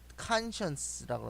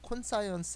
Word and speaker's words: conscience: conscience라고 합니다. 콘사이언스 아닙니다. 여기에 이제 과학이라는 그 단어 사이언스가 들어가 있는데 SCIENC 콘사이언스라고 읽으시는 분이 계신데 그게 아니고요. conscience라는 단어입니다.